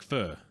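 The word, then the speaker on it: phở: It's called pho, but pronounced like pho, for non-Vietnamese speakers like me.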